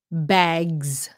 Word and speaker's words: bags: pronounce it wrong yeah it's bags z sound bags okay bags like dogs and the reason why is because of the G bag bag oh here's